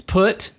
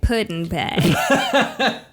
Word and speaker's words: Put-in-Bay: It's Put-in-Bay. Put-in-Bay. I thought you were saying Puddin'-Bay. Like, I'll be your Puddin'-Bay. Yeah. No, it's not Puddin'-Bay. But it's Put-in-Bay.